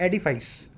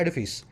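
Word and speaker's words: edifice: इसको कुछ लोग बोलते हैं एडिफाइस, इसका सही प्रोनाउंसिएशन क्या है? एडिफिस।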